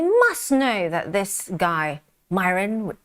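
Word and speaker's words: Miran: And they must know that this guy, Myron, rhymes with siren, is now teeing up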